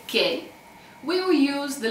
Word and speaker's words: che: Actually, if you want to say che, we will use the letter C and then the letter H and then E. So C, H, E, and it's pronounced che, which means what.